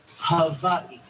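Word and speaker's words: Hawaiʻi: First things first, the proper pronunciation is havi.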